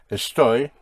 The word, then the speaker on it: estoy: Estoy is spelled E-S-T-O-Y.